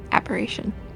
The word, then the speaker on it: aberration: summoning and ABD duration or how do you pronounce it yeah abjuration aberation aberration aberration got it yeah aberation it's let's see